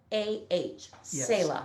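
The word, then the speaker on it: Selah: lead singer of saila they spell it s-e-l-a-h sayla let's see if they're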